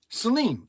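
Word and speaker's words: Saleen: Hey Siri, how do you pronounce S-A-L-E-E-N? Celine.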